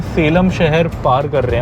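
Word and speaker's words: Salem: पहले मैं इसे सालेम सालेम बोलता था। मुझे पता नहीं था इसकी इंग्लिश में spelling S ए एल इ एम है। बट बाद में मुझे कई लोगों ने करेक्ट किया कि इसे सेलम बोलते हैं।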